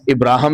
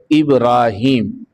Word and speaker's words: ابراہیم: دوسری جو تہذیبیں ہیں، ان کے اندر ان کا نام ابراہم بھی بولا جاتا ہے، ابراہیم بھی بولا جاتا ہے۔ قرآن مجید نے جو لفظ، جو نام ان کا استعمال فرمایا ہے اس کا تلفظ ہے ابراہیم، الف با را، پھر الف، پھر ہا، پھر یا اور پھر میم۔ قرآن مجید میں 25